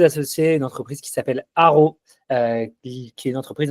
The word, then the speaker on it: Aro: Aro, ça s'écrit A R O. Il y a pas de H caché, il y a pas d'autres lettres cachées qu'on entend pas. Non, ça s'écrit AO.